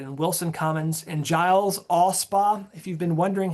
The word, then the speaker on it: Alspaugh: And Giles, Allspa, if you've been wondering how to pronounce that word, it's Allspa. Giles, Allspa, Pegram, and Westhouse, those will all be picked up in Giles.